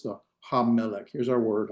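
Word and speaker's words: הַמֶּלֶךְ: The ha-melech. Here's our word, ha-melech. How would I divide that into syllables? Is it ha, me, lek?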